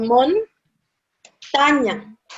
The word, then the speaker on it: montaña: Let's separate it into syllables. Syllable mon, taña. So the accent is montaña. It's here. But we don't write down tilde, okay? But still the strength is there.